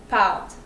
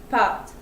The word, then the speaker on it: pâte: to pronounce it, but it's kind of like A with your mouth a little bit closed. So it's A. This is a French word it means pasta, so it's pâte, pâte.